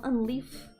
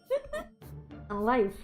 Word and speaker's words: Unlife: I am unleaf. Unlife. Unlife is how to pronounce it.